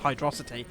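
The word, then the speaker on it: Hydrocity: hydrosity even though it's definitely pronounced hydrosity just like viscosity and the other random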